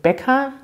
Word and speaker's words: Bäcker: Und Bäcker, kurzes E, das liegt daran, weil es dort das CK gibt.